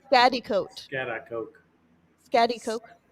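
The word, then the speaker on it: Schaghticoke: to this one yeah i believe him oh chatty coke that's not how it's spelled pronounced spatty coat coke scatty coke scatty coke then spell it fat eat coke not whatever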